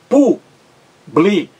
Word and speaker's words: público: a palavra público aí ela é proparoxítona três sílabas público público público três sílabas a sílaba mais forte é a antepenúltima qual é a sílaba